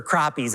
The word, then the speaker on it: crappie: is when we're fishing in northern minnesota for crappies at our family cabin i love to fish